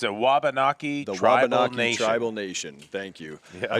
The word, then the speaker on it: Wabanaki: from here the the Wallock how do you pronounce it Jeff the it's a wabanaki tribal Nation thank you I struggled with that